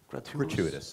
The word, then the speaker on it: gratuitous: It's not gratuitous violence, if that's the how do you pronounce that word? Don't speak your language. What word? Gratuitous.